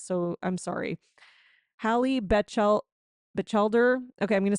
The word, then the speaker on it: Batchelder: Hallie Batchelder. Okay, I'm going to spell it Batchelder in case you want to creep her on Instagram.